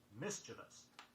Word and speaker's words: mischievous: Don't put in too many sounds. It is mischievous.